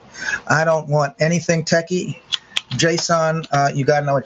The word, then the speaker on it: JSON: is something you do need to know it's pronounced json okay i'm gonna give you a link to